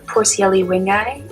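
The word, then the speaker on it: Poecilia wingei: and then ENDLER's are Porcielli wingi, is how I would have pronounced that one, but I was also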